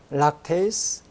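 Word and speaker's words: lactase: 이게 영어로는 우리가 리파제 이렇게 다 붙이고 배웠는데 원래 영어 그 발음으로는 페이스라 그러더라고요. 아밀레이스, 락테이스, 그다음 리페이스.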